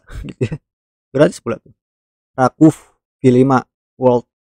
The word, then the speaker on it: RWKV: Jadi ini sebenarnya nama saya baru tahu kalau pengucapannya ini Rakuf bukan RWKV.